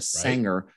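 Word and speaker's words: Saenger: shows are and stuff like that called the sanger theater pronounced s i mean spelled s-a-e-n-g-e-r uh my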